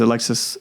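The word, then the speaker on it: Alexisonfire: Like, do you know the band Alexis on Fire? Yeah. But like it looks like Alex is on fire. Oh, I've always thought it was Alexis. It is. It's pronounced Alexis, but it you could also see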